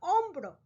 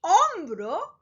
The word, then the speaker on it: hombro: Spanish: hambre, hombre, and hombro. As you can see, they are very similar in their spelling. All 3 start with an H, H, which in Spanish, remember, the H is silent.